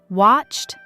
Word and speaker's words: watched: a D, like visit, we add an extra syllable. Ed. I visited my parents. Practice those 3 sounds. Watched, t, stayed, d, visited, ed.